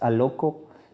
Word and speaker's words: aloko: It's aloko.